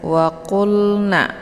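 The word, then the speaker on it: وَقُلْنَا: Waqulna, waqulna. Jadi lamnya tidak boleh dibaca pantul, jangan waqulna ya, terkeluar bunyi le-nya.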